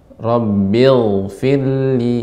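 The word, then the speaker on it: رَبِّ اغْفِرْ لِي: Ghain ini dia mengalir, ya, rakhawah, sehingga pengucapannya Rabbil firli.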